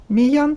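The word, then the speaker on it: Meilland: Кстати, мне написали в комментарии, что правильно произносится Миян по фамилии оригинатора.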